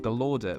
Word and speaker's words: Gallaudet: Galorder. Right, that's how you pronounce it. Galorder. What did I say? Gallaudet. I can't remember what I said, but it's Galorder.